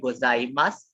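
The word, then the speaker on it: ございます: is like goodbye and somebody asked me if the who is silent in gozaimasu yes you're right in gozaimasu in japanese verbs the usang is basically not is basically silent so whenever you see ooh sound in the end it is silent this is only for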